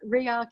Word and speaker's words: Rearc: tricky to pronounce but react if you think about it as ray architecture re-architecting the digital advertising